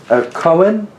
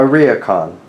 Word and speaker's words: ryokan: There was a koan. Am I pronouncing that correctly? Wedding food. No, not koan. That's the garden. A ryokan. That you all would stay